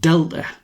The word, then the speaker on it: delta: The triangle symbol is a Greek letter of the alphabet pronounced delta.